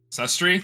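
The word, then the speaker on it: Sustrai: Sustri I think. Sustri. That's how you pronounce it.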